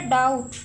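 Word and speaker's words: doubt: Next word है डाउट। डाउट में B silent है, डाउट, हम डाउट नहीं पढ़ते इसको, डाउट है ये वर्ड, तो बी साइलेंट है, बी को अंडरलाइन कर दिया।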